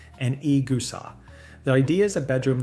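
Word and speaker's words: い草: This one has two parts, the tatami and the igusa, pronounced tatami and egusa.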